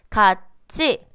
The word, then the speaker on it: 같이: 같이, 밭이, 피부치. 자, 분명히 트라고 적혀 있는데 누구도 같이, 밭이, 피부티 라고 바보처럼 읽지 않죠, 그죠? 자, 얘네들 다 어떻게 읽고 있습니까?